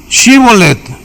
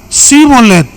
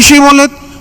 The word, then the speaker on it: shibolet: le decían ahora ahora pues di shibolet y él decía cholet porque no podía pronunciarlo correctamente Entonces le echaban mano